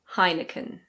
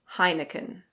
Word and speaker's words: Heineken: I believe we pronounce it pretty similarly to the Dutch. In English we say Heineken. Heineken.